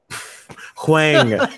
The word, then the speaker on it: Huang: Huang, not Wang.